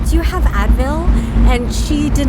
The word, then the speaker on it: Advil: And just adding that extra syllable Sure. like made her understand. Same with like ibuprofen. She pronounced it like ibuprofen, like just added more syllables.